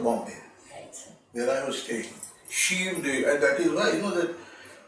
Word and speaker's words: Sion: Shiv, and that is why, that actually Sion is a very wrong pronunciation. Rama will appreciate. Shiv ha shabd typical Gramina hai. Gawachi Shiv asте. End of the... So that is not Sion, that is Shiv of Bombay.